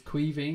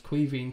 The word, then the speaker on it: Caoimhín: way, for any non-Irish people, is how you pronounce the young guy's name. It's Caoimhín, which is Irish for Kevin. So it's basically Kevin Kelleher, but it's Caoimhín Kelleher.